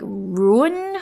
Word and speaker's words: Ruhnn: many consonants i mean would you pronounce it like ruin for example that hardly seems auspicious we are just going